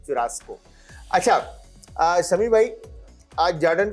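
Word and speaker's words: churrasco: तो right pronunciation is चुरास्को।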